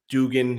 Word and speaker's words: Duggan: winning it quarterback out of USC uh Max Duggan Dugan if you pronounce it the right way uh TCU quarterback